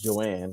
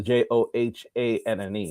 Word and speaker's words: Johan: So my wife's name is Joanne, right? And it's spelled the J O H A N. The H is silent.